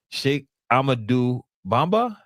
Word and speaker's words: Cheikh Ahmadou Bamba: Let me pronounce it right. Shake amadu bomba.